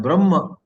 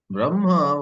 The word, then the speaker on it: Brahma: He writes, Brahma while writing has her coming first and ma next, but while pronouncing the right ucharana is you got to pronounce ma first and her next.